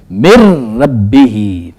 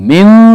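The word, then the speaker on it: من رب: को खत्म कर देना उसने इसको साइलेंट कर देना अब हम इसको यूं पढ़ेंगे मिर रब्ब मिर रब्ब मिन रही गलत है मेर रब्ब और इन दोनों की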